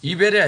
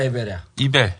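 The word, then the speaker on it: Ebell: 이벨이야, 에벨이야. 이벨. 에벨이 아니라 이벨. 이벨 극장.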